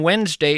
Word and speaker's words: Wednesday: If you're in fact scribbling this down, Wednesday is kind of tough to spell. It's not like it sounds. You want to spell it W-E-N-Z, but that of course would be a mistake.